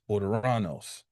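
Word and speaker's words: Ouranos: That's the Greek origin of Uranus or the Greek equivalent of Uranus Orderanos, which would be spelled O U R A N O S oranos.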